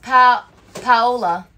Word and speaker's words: Paola: My name is pronounced Paola.